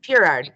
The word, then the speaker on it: Piard: think Miss Piard. Did I pronounce that right? Yeah, Purard, you got it. Piard.